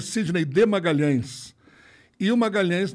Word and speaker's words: Magalhães: Sidney de Magalhães eo Magalhães na Itália não é pronunciado LH não existe então era Magali a Magali esmagá-las não